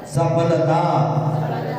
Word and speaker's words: सफलता: सफलता, सफलता। प नहीं, फ का उच्चारण करो।